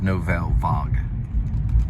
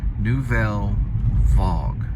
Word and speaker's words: Nouvelle Vague: Almost like vlog. I remember it now because I did this before. Nouvelle Vogue, like vlog.